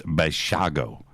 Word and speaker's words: Basiago: Yeah, like Chicago, but it's Basiago. Basiago.